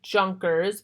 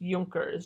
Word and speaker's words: Junker: idea of the euchre's it looks like Junkers but it's pronounced yonkers generally the euchre's formed